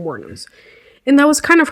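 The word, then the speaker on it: Wuornos: I think it's how you spell it, but that's how you pronounce Wournos.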